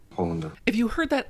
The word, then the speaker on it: Hollander: If you watch the show, I know it feels like I mispronounced Shane's name. So, I'll let the expert demonstrate how it's supposed to be said. Hollander.